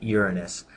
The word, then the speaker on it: Uranus: A lot of people mispronounce and they try to say Uranus, but it is actually Uranus.